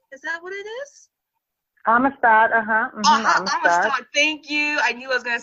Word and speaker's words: Amistad: For Malcolm X, yeah, and working with Spielberg in, I hope I pronounced this right. I do believe it's the AMISTAD. Is that what it is? AMISTAD, AMISTAD, thank you.